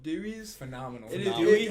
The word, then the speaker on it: Dewey's: For those of you who aren't from around here, there's this phenomenal pizza place called Dewey's. Phenomenal. It is- Dewey? it- How do you spell that?